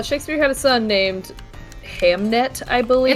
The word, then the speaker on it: Hamnet: no I know but they pronounced it like Hamlet is what I'm saying